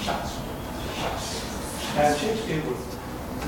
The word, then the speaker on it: Shakespeare: And even the spelling of Shakespeare, when he would sign as, it's not very carefully, but it was not actually pronounced as Shakespeare, it was pronounced as Shucks.